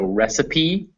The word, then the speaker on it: recipe: starve or discipline however some french or greek words in english will pronounce that e so recipe is a french word cafe also a french